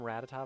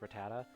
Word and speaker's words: Rattata: I always called them Rattata, but it's actually technically pronounced Rattata.